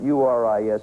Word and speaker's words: Uris: You surprised me with the pronunciation, but U-R-I-S is it, and if you want to pronounce it Uris, that's all right with me. I say yours, and my wife says tomatoes, but that's a